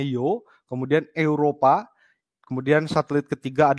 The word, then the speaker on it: Io: kanan ya yo ya itu namanya io gitu ya bacanya Joe kemudian Europa kemudian satelit